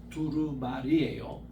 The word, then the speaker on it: 두루마리: 그래서 이 책을 이렇게 하는데 두루마리예요. 이 잘못 발음하면 자꾸 두루마기가 됩니다. 그래서 제가 설교 시간에 저 미국에 있을 때요, 자꾸 두루마기로 그렇게 하니까 쪽지가 올라왔더라고. 두루마기가 아니고 두루마리입니다.